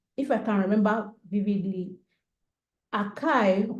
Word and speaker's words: IKEA: I think if I can remember vividly, Akai, or Ike, is spelled A-K-E, A-K-E, sorry, IKEA.